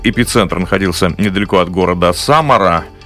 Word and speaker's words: Самара: Эпицентр находился недалеко от города Самара. Видимо, так правильно делать ударение.